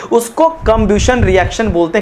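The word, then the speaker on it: combustion: Burning होता है उसको कंब्यूशन रिएक्शन बोलते हैं। कंबिनेशन मत बोलना मेरे भाई, कंबिनेशन नहीं बोल रहा हूं, कंबक्शन बोल रहा हूं।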